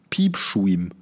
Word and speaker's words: piepschuim: Also ich piep wie der Piep und dann S-C-H-U-I-M. Schuim. Piepschuim. Piepschuim.